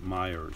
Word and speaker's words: Meijer: It's not written Myers like you're thinking. It's Meijer, I think, but the locals there pronounce it Myers, so I go figure.